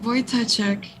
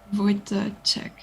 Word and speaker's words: Wojtaszek: How do you pronounce his last name? Wojtaszek, you mean? Or whom? Wojtaszek.